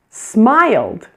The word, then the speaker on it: smiled: Smiled. Smiled. Again, there's only 1 vowel sound, I.